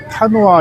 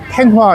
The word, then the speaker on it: Thanh Hóa: 여기 타노아라는 곳은, 근데 우리가 이제 타노아 이렇게 이제 발음을 하는데 이곳 사람들은 탱화 이렇게 발음하더라고요. 우리 그 절에 걸려 있는 사진을 탱화라고 하잖아요.